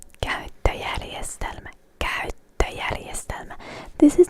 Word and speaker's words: käyttöjärjestelmä: An operating system in Finnish is käyttöjärjestelmä. Käyttöjärjestelmä. Käyttöjärjestelmä. Käyttöjärjestelmä. This is not an easy word to pronounce, so I definitely recommend going through it a few times.